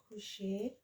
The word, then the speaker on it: couche: when you're conjugating, I want to focus on pronunciations. So just remember, laver. This is lave because there's no accent on that. Coucher.